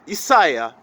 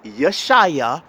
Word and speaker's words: Isaiah: so in my case my name is isaiah or as they say yashaya whatever however you want to pronounce it isaiah if that's the case